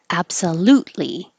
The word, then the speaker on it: absolutely: a spaceship several actually absolutely you don't hear this t either because absolute the tongue is in the t position and then you have li so you just hold it there absolutely absolutely intellect with